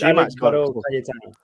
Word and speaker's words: Alex Baró Cayetano: So what is the correct pronunciation? Mine's, I don't know. It's Alex Baró Cayetano.